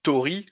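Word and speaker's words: Tauri: Moi, par exemple, si on dit Tori, comme on disait tout à l'heure, c'est la technologie de Murmure. Tori, ça s'écrit T-A-U-R-I.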